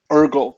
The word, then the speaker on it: Eirgle: I forgot it um Ergo thank you have you heard of someone um it's spelled by the way just a Virgil but without the V okay Google um and